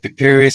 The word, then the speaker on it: Piri Reis: never heard of the is is is it pronounced Pur Reese Pur Reese yeah Pur Reese it's pi r i r i r e